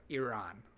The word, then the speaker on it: Iran: Sorry, Iran is the proper way to say it.